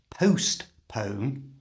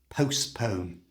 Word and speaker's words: postpone: To say this like a native speaker, do not, let me repeat that, do not say the letter T in the middle of the word. It's not postpone, it's postpone. You try postpone.